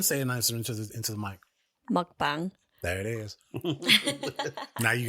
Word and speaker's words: mukbang: Mukbang.